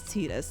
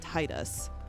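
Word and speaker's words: Tataru: mean to be honest everyone pronounces tetus wrong and everyone pronounced zon wrong for the very longest time and yes it is tetus not Titus thank you very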